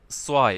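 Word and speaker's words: zwei: কিছু এক্সাম্পল দেওয়া আছে সোয়াই মানে ই আই যখন একসাথে থাকবে আমরা এর উচ্চারণ করবো হচ্ছে আই আই for example সোয়াই সোয়াই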